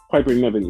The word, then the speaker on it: Piper Niven: How do you pronounce it, Nevin? Piper Nevin, yes.